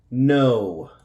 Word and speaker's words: know: The KN, the K is silent. The WR, the W is silent. Okay, so we don't say the W. Okay. So here are some examples. This is our vocabulary word. Okay. No. It's going to sound like that.